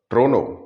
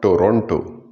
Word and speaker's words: Toronto: Supposing in India you were to go around and say Toronto or Trono, you might tell me but sir, nobody would understand me. Try in convincing them that it's not Toronto.